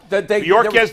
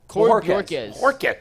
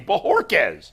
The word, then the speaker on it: Bojorquez: Am I still pronouncing his name wrong? Bojorquez. That's a terrible job out of me. Bojorquez.